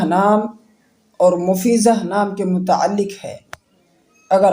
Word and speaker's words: مفیضہ: ٹکڑا، بادل کا ٹکڑا۔ اس کے بعد ہے مفیزہ۔ مفیزہ نام یہ لڑکیوں کے لیے خاص ہے